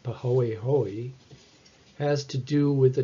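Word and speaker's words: pāhoehoe: this strange word which is a hawaiian word pronounced pahoehoe has to do with the texture of the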